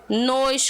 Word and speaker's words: nos: No pronome reto é nós, esse O é aberto. No pronome oblíquo é nos, fechadinho o som, tá vendo?